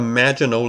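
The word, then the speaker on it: Maginot: are oroboros and the magino line that's how you pronounce that even though the word ends with the T it's French and in this case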